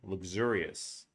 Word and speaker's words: luxurious: Then you have luxurious, right? Luxury. luxurious. Remember, we never pronounce the o u like oo. That's like French.